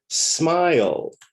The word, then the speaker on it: smile: In smile, in the verb smile, the E at the end is silent. We don't say the E in smile. So the last sound that we hear is L, L, L, smile.